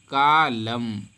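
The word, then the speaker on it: calm: जाएगा अगला लेटर है एम से पहले अगर एल आता है तो साइलेंट हो जाता है देखिए यहां पर लिखा है कलाम क्या लिखा है कलाम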